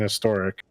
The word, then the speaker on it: historic: because you pronounce an historic but the way americans pronounce the word a is appropriate because we emphasize the h sound i'm being bonked bonk